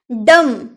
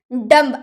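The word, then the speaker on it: dumb: डम, डम्ब अगर हम नहीं जानेंगे तो हम बोलेंगे डम्ब,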